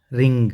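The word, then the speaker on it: wring: निचोड़ना, रिंग। इसमें भी W silent है, यहाँ से पढ़ेंगे रिंग।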